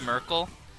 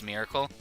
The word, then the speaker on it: Merkel: No, she does know Miss Merkel, and people mispronounce her name as Miss Miracle.